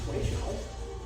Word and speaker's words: Toui Shou: Qigong Tai Chi exercise called stick in hand or Toui Shou. You have to pronounce it Toui Shou.